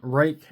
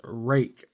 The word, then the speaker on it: Ruike: look at a pair of budget bangers from Ruike. And yes, that is how you pronounce the name. That name is Ruike.